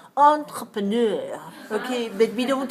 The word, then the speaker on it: entrepreneur: hear the stress on this word where is the stress four four one four two four three or four four okay i'll say it again entrepreneur four four okay watch me entrepreneur nice do that again good so it's a french version of the word like the word enterprise so in english we say n but in french you don't say n you say oh entrepreneur okay but we don't